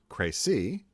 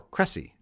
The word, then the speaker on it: Crécy: ask was, well, okay, have you guys been saying Crécy, which is proper, or Cressy?